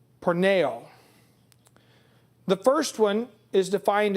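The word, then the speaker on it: πορνεύω: The second Greek word for fornication is spelled this way, P-O-R-N-E-U-O, long O, porneo.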